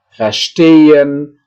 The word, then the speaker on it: verstehen: Di sini adalah penekanan pengucapannya itu berada di bagian yang saya cetak tebal di tengah, ya. Beginnen, erklären, verbessern, verlassen, verstehen, wiederholen, ya. Itulah, ya.